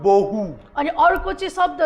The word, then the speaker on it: bohu: the other is called bohu. अनि अर्को चाहिँ शब्द छ त्यो चाहिँ हो बहु। And if you see, it rhymes with one another.